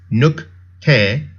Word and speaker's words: 늑대: When a base consonant 받침 is followed by a base consonant initial, the initial tensifies. So we pronounce 늑대 as 늑대.